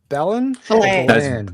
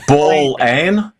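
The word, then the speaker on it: Ballan: Do we pronounce it Ballon? It's Ball Ann.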